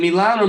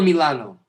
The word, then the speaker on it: Milano: Is it Milan or Milano? In Italian is Milano. Okay. Oh, well, that's it. I gotta say it right. Milano. Okay. That's correct.